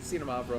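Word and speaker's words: Xinomavro: Just We're- treat the X like a Z. Zeta Mavro.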